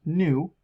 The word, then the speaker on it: nu: I wanted to so frequency pronounced new it's got this little curvy V symbol that's what the the symbol for for nu is it's the number